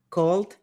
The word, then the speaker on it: cold: La palabra es cold. Okay. Called, no, cold.